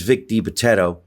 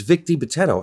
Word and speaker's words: Vic DiBitetto: And it's Vic DiBitetto. You know, I never had a hard time pronouncing his name.